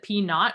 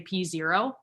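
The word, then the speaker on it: P₀: So that's the P naught, or that's how you pronounce it, P naught, or you could say P0.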